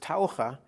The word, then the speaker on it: Taucher: know what that means in english diva it's pronounced taurah and taura is diva and i have to